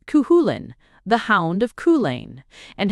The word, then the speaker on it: Cuchulain: He told the story of Cuchilain, pronounced cuhulin, the hound of Koulain,